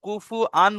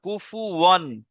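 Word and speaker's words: كفوا: কেউ কুফু আন বলবেন না, কুফু ওয়ান।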